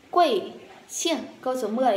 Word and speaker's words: 姓: Xiềng, xiềng, thanh bố mình đọc là xiềng, mạnh xuống.